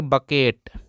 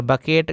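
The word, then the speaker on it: bucket: सी आता है तो सी साइलेंट हो जाता है यानी कि सी का यहां पर कोई भी हिंदी नहीं निकलता है इसको पढ़ेंगे बकेट और बकेट का मतलब होता है दोस्तों बाल्टी क्या प दोस्तों बकेट इसको बुकेट नहीं पढ़ेंगे बकेट पढ़ेंगे दोस्तों यहां पर सी साइलेंट रहता है जैसे कि आप कहीं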